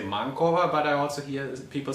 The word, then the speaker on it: MANCOVA: will address these questions how do you actually pronounce these words that's uh also open for debate i say manova and mankova but i also heard people say man over